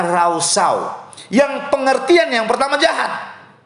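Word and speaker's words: רשע: Karena kalau saya dan saudara melihat dari penggunaan bahasa Ibrani, kata fasik menggunakan kata rausyau. Dalam bahasa Ibrani menggunakan kata rausyau. Tulisannya R-A-S-H-A. Bacanya rausau.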